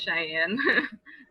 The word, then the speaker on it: Shiane: Well, my name is Cheyenne, and it's spelled with SHIANE, and then I put like heart and then like beautiful because I don't know.